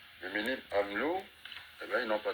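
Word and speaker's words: Le Mesnil-Amelot: au mil pardonil Amlo parce qu'on ne prononce pas le S le Menil Amlo et ben ils n'ont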